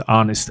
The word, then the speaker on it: honest: 例如说诚实 honest， h 就不发音这样子。